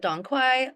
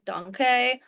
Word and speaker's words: Dong Quai: So some people call it Dong Quai, Dong Quai. There's different pronunciations, but the main thing is that this